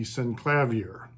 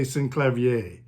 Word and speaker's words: Synclavier: In the past, I have tended to say synclavier, and it is, I guess, synclavier, but I just had pronounced it always as synclavier, simply because my introduction to the word was through reading, and I never heard the word spoken by anyone else or pronounced differently.